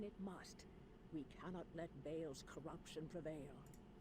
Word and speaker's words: Baal: You vanquished Bale. Or as the people that want to be difficult say, actually it's ball. Actually, it's not.